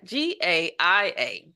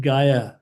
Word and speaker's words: Gaia: was like what is GI i g a i a how do you pronounce that oh ga ga and what's a Gaia